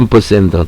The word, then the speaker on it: ampersand: 앰퍼샌드. 또 사람들 뭐 발음 기호에 따랐는데 앰퍼샌드라 그러기도 하고 앰퍼산드라 그러기도 하고 편하게 여러분들 읽으시면 되겠습니다.